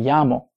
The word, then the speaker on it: llamo: Me llamo. Notice the double L here is kind of like a Y, and some places might differ in that pronunciation a little bit.